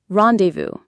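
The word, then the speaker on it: rendezvous: R E N D E Z V O U S rendevous. The IPA is rendevous for UK or rendevous for us. That final s is silent.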